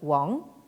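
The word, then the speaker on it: 王: C'est un caractère qui se prononce comment dire, dans la prononciation moderne Wang.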